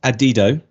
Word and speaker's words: Adido: this conversation just before we went live it's pronounced adido uh I sounded like an idiot when we came on I was trying to get it right saying adido which sounds stupider the more I listen to